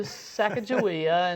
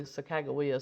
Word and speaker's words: Sacagawea: When they ran in to Sacajawea, and there's different ways of pronouncing it I know. And so, I'm not sure if I'm saying that properly. Sacagawea some people say.